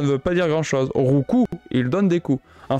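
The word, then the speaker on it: Roucoups: qui s'est planté et qui a fait dire rouup à Sacha enfin c'est pas bien grave mais rouou ça ne veut pas dire grandchose rouu il donne des coups en fait ça se prononce rouu et pas rouups ça prononce rouu voilà donc je vous petit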